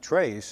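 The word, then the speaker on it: Tres: early years in Europe you mentioned your son trace and I had read that it's pronounced trade is TR it's Trace okay the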